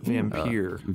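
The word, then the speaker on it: Vampyr: Vampire. Vampire, right. Vampire. It is funny. And I say that because it's spelled with a Y-R.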